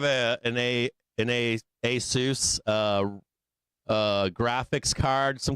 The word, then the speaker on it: ASUS: I think it's ASUS. A Asus. ASUS. That's what how it's pronounced.